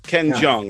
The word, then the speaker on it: Ken Jeong: It's Ken Jeong, right?